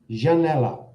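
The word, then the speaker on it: janela: quick I can't believe it Jan Jan sh Janella what have you got there Leslie oh not sure that's right Danielle got it right Janella Janella and it's actually spelled j a n e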